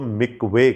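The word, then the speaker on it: מקווה: مکوے کہا جاتا ہے۔ عبرانی میں ہم اس کو مکوے کہتے ہیں، اگرچہ کہ MIKVAH لکھا جاتا ہے، لیکن it is pronounced as مکوے۔ کہیں پر بھی پانی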